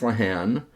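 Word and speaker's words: Lehane: River by Dennis lahan or leane depending on how you pronounce it I have some Irish friends that pronounce it lahan I think they would know so I'm going to go with lahan but I've heard it pronounced differently uh this is a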